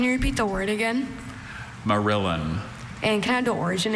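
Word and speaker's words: morillon: Merillin.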